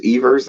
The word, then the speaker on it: Evers: seeing in Wisconsin Tim Evers Evers I think is um is pronounced who's the um incumbent